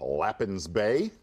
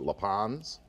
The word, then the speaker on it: Lappin's Bay: Right outside of Lappin's Bay. Lappin's Bay. Some pronounce it Lapons.